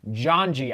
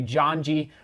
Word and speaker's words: Janji: will be racing in my janji i was mispronouncing that yesterday john g racing singlet uh because